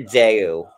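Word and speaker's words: Dayou: his stage name dirk it's dirt daiyu dirt and then d-a-y-o-u like like like deux like rhymes with bayou but bait maybe he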